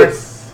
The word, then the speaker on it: Heloise: Well, I've never really heard of a silent H at the beginning of a name like that. Why not? Let's go for Eloise.